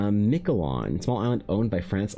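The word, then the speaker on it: Miquelon: It's pronounced Michelon.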